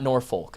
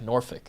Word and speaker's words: Norfolk: Uh, not Norfolk. Norfick is how they pronounce.